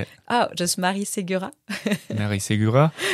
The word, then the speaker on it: Marie Segura: Oh, just Marie Segura.